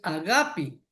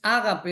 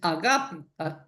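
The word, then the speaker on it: ἀγάπη: La palabra amor en hebreo es aá y en griego es agapi. No es ágape, es agapi. Así se pronuncia.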